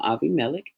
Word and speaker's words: Abimelech: Remember, we looked at him, Aviamelik is uh how that name would be pronounced in uh the Hebrew script.